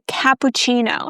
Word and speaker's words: cappuccino: Next option usually is ordering a cappuccino. Guys, be careful. When we pronounce this word, we start with ka. You pronounce a as in apple.